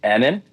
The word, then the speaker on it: Annan: Name is Annan, two N's. Annan.